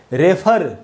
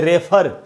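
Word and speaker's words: refer: Word है रेफर जिसको हम बोलते हैं, उसके उच्चारण में यही वाला साउंड इस्तेमाल होता है। मैं आपको बताता हूँ जिसको हम रेफर बोलते हैं उसका असल में क्या उच्चारण है, उसका उच्चारण है रिफर, ये उच्चारण है रिफर,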